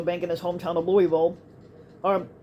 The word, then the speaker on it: Louisville: in his hometown of Louisville um basically it's pronounced lower ball for the uninitiated for the people that never been there and that Louis Bill and they initiated the